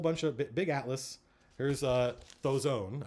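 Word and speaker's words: Dhoesone: Here's Thozone. I believe the DH is pronounced like a TH.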